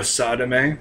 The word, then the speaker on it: Sadame: The first one is Sonochino Sadame, which that's spelled S-A-D-A-M-E, for those of you who might not know. That is an actual Japanese word. And you might have thought I said sodomy.